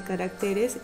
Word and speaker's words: caracteres: Al pasarlo, mira, la palabra carácter al plural de caracteres ya no lleva esa tilde, ¿cierto? Porque la sílaba tónica en caracteres es la T, no la sílaba rac.